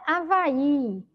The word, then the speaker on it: Havaí: Avaí Olha lá Avaí Observe que quando pronuncio Avaí a sílaba mais forte é justamente vai sei que tem o Avaí Demorou mas na minha boca olha Havaí Havaí então por isso